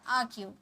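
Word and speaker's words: argue: यहाँ भी आर का साउंड नहीं होता, आर्ग्यू।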